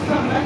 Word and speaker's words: Henri Farman: Alors, Henri Farman, d'ailleurs, j'ai vérifié, si tu veux, il se prononce bien Farman, puisque même s'il est français, il est né 2 parents anglais, et donc il s'appelle effectivement Monsieur Farman.